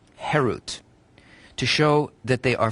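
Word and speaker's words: חֵרוּת: harut on the stones do not pronounce it carved which is harut but rather freedom herut to show that they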